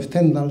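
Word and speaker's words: Stendhal: poco con Carmen posad de standal o stendal si lo pronunciamos a la española y su nos influido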